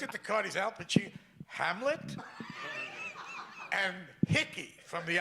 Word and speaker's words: Pacino: is, first of all, he said, Al Pacino. He pronounced my name right. That never happened. I went to a whole school, in public school, they never, Pacini, Pacuno, Pacani, that kind of thing.